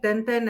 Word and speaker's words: Tintin: It's Tintin. Oh, yeah, it's Tintin. In Greek we call it Tenten, and in French it's also Tenten.